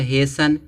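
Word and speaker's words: hasten: क्या होता कोमल होना यहां देखो दिया हेसन लास्ट में टी एन है तो यहां क्या होगा टी साइलेंट होगा ठीक है हेसा माने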